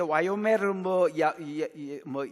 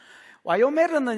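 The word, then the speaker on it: וַיֹּאמֶר: 여호와께서 내게 이르시되 와요메르 야외 이렇게 아니면 예흐와 이렇게 이제 발음되거든요. 와요메르는 여러분 와우 계속법이 붙었기 때문에 아마르, 와우하고 아마르가 합쳐진 말이 와요메르 이렇게 발음이 된 겁니다.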